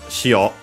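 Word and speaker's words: 塩: Which adds the word, also accented, which adds the word shio, accented on the last syllable, which means salt.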